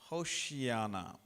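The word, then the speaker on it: הושיעה נא: Then people started to shout, Hosanna, Hosanna. In the Hebrew language it is spelled like this, Hoshiana, Hoshiana.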